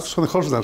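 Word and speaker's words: Sonnenholzner: Sonnehorner se pronuncia.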